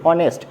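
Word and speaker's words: honest: অনুরূপভাবে এইচের উচ্চারণ তো হওয়ার কথা, কিন্তু আমরা এটাকে বলি কি অনেস্ট, তার মানে কি ওয়ের উচ্চারণ আসছে, তাহলে সেক্ষেত্রে আমরা অবশ্যই এন ব্যবহার করতে পারি।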